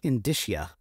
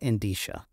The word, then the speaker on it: indicia: all these terms that don't make sense it's pronounced indicia but I call it indisha whatever it is doesn't matter that's not going